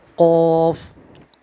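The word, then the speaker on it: قاف: जैसे इसमें है काफ काफ काफ तो इसको हम मुंह भर के पढ़ेंगे। पूर मतलब उस हफ को मुंह भर के पढ़ना है।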